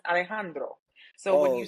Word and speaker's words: Alejandro: His name is pronounced Alejandro.